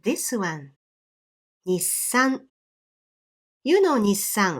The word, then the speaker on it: Nissan: Point number 2, even though you don't pronounce it, this extra consonant still takes one beat when you pronounce the entire word. So that means you need to place one beat of silence for this extra consonant. So that word Nissan has 4 beats like this.